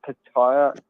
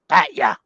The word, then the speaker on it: Pattaya: I would say it's Pattaya. Is that how you say it? Pattaya? Yeah, there's no eyes in it. Posh way of saying it. There's no eyes in it for Pattaya. Pattaya. Or you could say Patya.